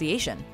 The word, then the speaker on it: bruschetta: iterations toppings including basil and tomato is correctly pronounced bruschetta though a common mispronunciation bruschetta is sure to get you an eye roll